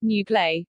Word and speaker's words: Noogler: this is followed by noogler pronounced new play which is used for